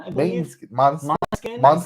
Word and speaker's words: Måneskin: Måneskin, I believe. Måneskin. That's how I've heard it pronounced.